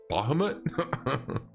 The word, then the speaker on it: Bahamut: I was putting the emphasis on the wrong syllable. I think I was calling him like Bahamut or something like that. And then Devin was like, Bahamut?